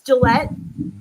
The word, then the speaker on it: Gillette: um is it Lisa Gillette or how do you say her name like the razors it's Gillette yeah okay that's what